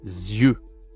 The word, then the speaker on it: yeux: Attention la prononciation. Z. Les yeux, c'est toujours e hein. Le e. E. Ah, c'est pas la même voyelle ici. Ici, on a œil e e et là e.